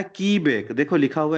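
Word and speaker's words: Quebec: ई बी ई सी इसको क्यूबेक नहीं पढ़ना है इसको पढ़ना है की बैक ठीक है सो रियल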